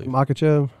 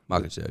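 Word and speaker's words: Makhachev: How do you say Islam's last name? I don't know, because it's a Brazilian name. Alex is Brazilian name. Islam. Yeah. He's Dagestani. Is that Makachev? Makachev. Yeah. Islam Makachev.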